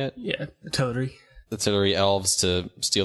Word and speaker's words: Teleri: Yeah, the Teleri.